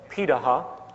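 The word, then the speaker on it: Pirahã: We know this today because of anthropological research done on remaining hunter-gatherer societies around the world, such as the Pidaha, which is how it's pronunciated, out of Brazil.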